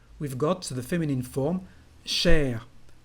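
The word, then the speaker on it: chère: Cher, to say dear, but also expensive, we've got the feminine form cher. Well, it's just for written French actually, because the pronunciation is exactly the same.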